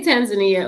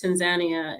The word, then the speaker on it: Tanzania: common um you just came back from and pronounced the name for me correctly so we say Tanzania over here but I got corrected several times over there by some of the locals and this Tanzania is how they pronounce it over there so